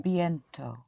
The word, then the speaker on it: bientôt: Je vais commencer Bien- bientôt. Once more. Bientôt. Bientôt. Always hit Bientôt. the ending. Yes. So once more, I'm going to start soon. Je vais commencer Right. bientôt.